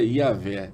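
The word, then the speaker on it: Yahweh: de re re é mas a provável pronúncia seria yahvé yé mas v v i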